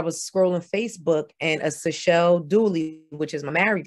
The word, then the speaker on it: Seychelles: So one is Seychelles and the other is Seychelloy. So my name ends in E-S, like after the islands, but the Seychelloy ends in O-I-S.